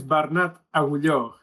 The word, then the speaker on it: Bernat Agulló: So, my name is Bernat Agulló. It's a bit tricky for non-Catalan speakers.